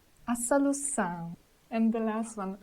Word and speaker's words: solução: Letter O situated at the end of termination on, são, should be said nasally with the whole termination. For example, a situação, a situação, a solução, a solução.